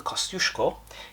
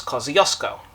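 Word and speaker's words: Kosciuszko: contrast its Fleet mate the cushko that's the Polish pronunciation it is is named after the Polish Explorer and Australia's highest peak Australians may be more familiar with their pronunciation which is Kosco that fairy did Sterling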